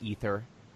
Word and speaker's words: Aether: revolt or ether revolt it's ether ether I know that's how they pronounce it but there's an A in front of the e and it makes me mad and if we're gonna